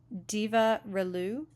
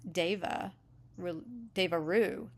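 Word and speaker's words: Deva Relu: Diva Relu. Oh, it's Deva Ru. Okay, you sort of roll the R into the L.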